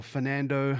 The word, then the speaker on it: Fernando: Usually the word Fernando in Australia is not pronounced right. They drop the R's in Australia. So instead of Fernando, my name is Fernando, which is like a very Australian way of saying things.